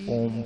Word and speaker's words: ओम: तो आंखें बंद रखते हुए इसी ओम का उच्चारण करना है, मुंह खोल के और श्वास गहरा भर करके। श्वास गहरा भरा, ओम का उच्चारण किया। ओ छोटा 1/3, 1/3, म 2/3 लंबा।